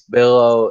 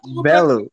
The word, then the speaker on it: Bellew: Because here's the thing: Usyk fights Bello in November, and I think he's gonna beat Bello like 10-2. Bellew, bro. Why is Bellew name wrong? Huh? It's Bellew. Why is everyone pronouncing that goddamn name wrong?